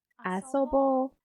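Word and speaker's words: 遊ぼう: Okay, so u at the end, but it doesn't sound like u, right? I'm not pronouncing it like asobo, right? It sounds more like o sound, asobo. The reason why is when there is o sound next to u sound, so you see o, asabo, then you should pronounce it like o.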